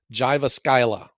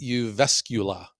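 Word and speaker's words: Jyväskylä: to a city on on the map it's pronounced to me Jiva Skyla but when you say that you're going there they look at you like you know where is this guy from it's pronounced you vescula which whatever well then maybe you should spell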